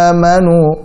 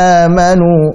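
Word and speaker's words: آمنوا: Jangan sampai baca amanu ya ayyuhalladzina amanu. Nah, ini kepanjangan. Harusnya amanu 2 harakat saja cukup.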